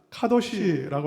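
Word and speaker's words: קדוש: 성경에서 말하는 그 거룩이라는 단어는 카도시라고 하는 단어입니다. 히브리어예요. 우리가 지금 쓰여있는 히브리어는 여러분은 앞에서부터 읽을 텐데 그래서 쉬도 카라고 읽을 수 있어요. 그러나 히브리어는 뒤에서부터 읽습니다. 그래서 카도시.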